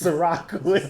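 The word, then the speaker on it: Cîroc: a see Terry as in the drink it's Ciroc I know he did it on purpose it's spelled s I are a CH Surratt but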